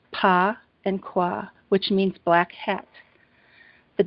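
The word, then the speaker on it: Bagua: It's B-A-Q-U-A, and it's pronounced Pa and Kwa, which means black hat.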